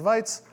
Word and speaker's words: Wajc: my name is that random looking assortment of letters are somehow pronounced whites and during the next